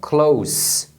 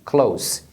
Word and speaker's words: close: fechar agora a palavra Close que se escreve do mesmo jeito só que a pronúncia final é um som de s Close essa palavra Close é